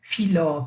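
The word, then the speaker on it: φιλῶ: Então eu digo filó, filó, filó. Nem sempre sai perfeito, né? Às vezes sai mais um F mesmo. Filó, filó, né? Mas eu costumo pronunciar assim, como se fosse o PF do alemão, em Pfeiffer, né? Tipo Michelle Pfeiffer, né?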